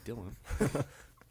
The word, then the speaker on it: Dylon: In some countries, it's pronounced Dylan.